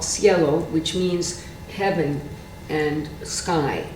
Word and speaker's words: cielo: sections of that oh there's another piece called Cielo which means heaven and sky in Spanish and in Italian it's called Cielo c-i-e-l-o spelled the same way and it's a